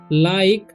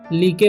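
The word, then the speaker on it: like: एल आई के ई तो बहुत सारे स्टूडेंट्स क्या करते हैं इसे लिके पढ़ लेते हैं तो लिके नहीं पढ़ना है इसे लाइक पढ़ना है ठीक तो डू यू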